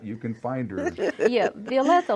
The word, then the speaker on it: Violeta: Yeah, Violeta like violet with A at the end.